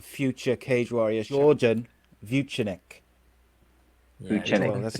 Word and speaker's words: Vucenic: Vucenic.